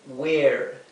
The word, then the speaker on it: were: You were. You were. Aquí esta e, la segunda e es muda, la primera e que tiene que ser una e larga.